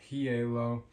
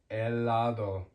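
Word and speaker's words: helado: So an example is ice cream um or h sorry ice eo there's no heo ice cream is eladd el not held the h is always silent eladd eladd um but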